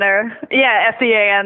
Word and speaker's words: Sean: Oh, there's Seamus, Sean Michael, and Rory, so... And I imagine it's those Sean S-E-A-N. Those are hard to double in S-E-A-N.